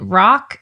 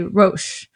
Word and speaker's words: Roch: His first name is, in English, you pronounce it Roch, and then in French, you say Roche. So I'm going to pronounce it French because he's from Quebec, okay?